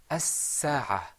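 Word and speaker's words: الساعة: Now, if that's, you heard that the scene there was muraqqaq. Mhm. How do you think it would sound if it wasn't, if it was mufakham? As-sa'a. Okay, good. It would sound like a sad.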